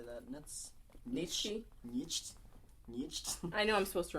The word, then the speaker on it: Nietzsche: Friedrich, and I can't pronounce that. How'd you say that? Nietzsche.